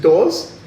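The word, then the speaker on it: Dawes: mr yeah that's right but it's spelt d-a-w-e-s yeah but i'm like how do i pronounce it is it just doors yeah it's like uh rachel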